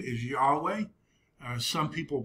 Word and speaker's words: Yahweh: And that's why in the Old Testament, God's covenant name is Yahweh. Some people pronounce it Jehovah.